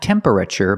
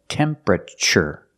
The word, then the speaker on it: temperature: Not temperature, but temperature. The TU makes a ch sound like chicken. Temperature. Remember, it's 3 syllables. Temperature. Not temperature, not 4 syllables, but 3.